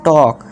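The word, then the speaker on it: talk: एल क्या है, silent. इस तरह से हाफ में, इसी तरह से टाल्क नहीं टॉक, काफ, शुड।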